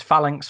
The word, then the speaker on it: Phalanx: Phalanx for the British, Phalanx for us, Phalanx for Americans.